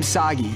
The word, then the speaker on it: Sagi: This is kind of overdue, but I'm Sagi. Rhymes with Saki.